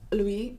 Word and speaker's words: Louis: So it's Louis, the S is silent, and as well as the N in Vuitton.